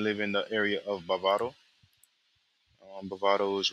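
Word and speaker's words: Bávaro: But Bavaro is the pronunciation, and I think it's a good place to stay um, if you're trying to be in the mix.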